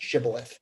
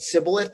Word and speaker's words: shibboleth: what is this bundle of wheat, which is pronounced shibboleth? And some literally couldn't say the shin sound. So they would call it sibboleth.